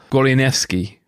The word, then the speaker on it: Goleniewski: drew you to the story and forgive my pronunciation advance i'm gonna try uh mikhail gorlianeski did i get that right that's absolutely right